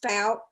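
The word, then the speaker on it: Fouke: It's actually pronounced Falk.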